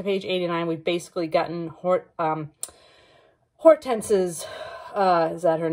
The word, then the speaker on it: Hortense: And so far, up to page 89, we've basically gotten Hortense's, is that her name? Let me make sure I'm pronouncing that correctly. Yes, Hortense.